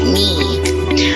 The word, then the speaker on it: knee: The word for instance is knee, which is represented by N and E. Alright, because K here is not pronounced.